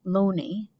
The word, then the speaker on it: Looney: The Oxford theory has been doing the rounds since 1920, when an English scholar, Thomas Looney, pronounced Looney, first brought it before the world.